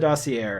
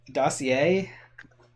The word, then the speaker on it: dossier: If you have a French word with an R at the end, usually the R is silent. Dossier?